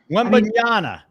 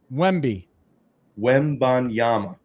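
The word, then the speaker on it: Wembanyama: if it's tonight though this is not the uh Wana you messed it up again wemi wanama that's what I said wanyama what did I say you said Jana you said wimba Yama then wama no Wim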